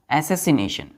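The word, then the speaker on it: assassination: क्या बोलते हैं पढ़ते प्रोनाउंस कैसे करते हैं एसस नेशन ऐसे आई यहां साइलेंट हो जाता है एसेसी नेशन बोलते हैं इसके सिनोनिम क्या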